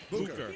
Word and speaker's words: Booker: She gave us the correct pronunciation. Booker.